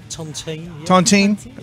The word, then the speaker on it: Tontine: is s OD the new one am i pronouncing the name right Tontine okay I think it's French Tontine okay spear